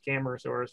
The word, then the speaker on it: Camarasaurus: And so you would think I would know exactly how to say it, but I say it both ways, Camarasaurus or Camarasaurus.